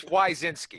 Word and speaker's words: Wyszynski: Signorelli, and I'm going to butcher your last name, Wyszynski. Wyszynski. It's actually pronounced Smith. There we go. No, it's Wyszynski.